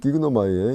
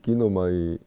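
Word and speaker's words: γίγνομαι: 긴데 왜 그러냐면 여러분들이 기그노마이 이걸 빨리 발음하다 보면은 이 감마가 이렇게 발음이 안 되는 것을 느낄 수 있을 것입니다. 그래서 이것이 발음이 안 되는 대신에 이 아이오타가 길어져서 기노마이 이렇게 된 거죠.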